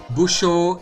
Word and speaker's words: Busó: Busho is like B-U-S-O. You can't write long O. It would be normally a long O. You can't write that short, so a short O is enough.